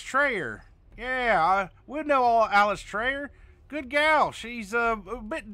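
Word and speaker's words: Eilistraee: If it helps, LS Trey is commonly... I'll practice the five syllable. I'm fine with that. Yellis Trey. Yellis Trey. Yellis Trey. Yellis Trey. Or LS Trey.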